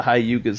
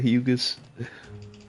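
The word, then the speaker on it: Hyugas: That boy said the hayugas instead of the hugas.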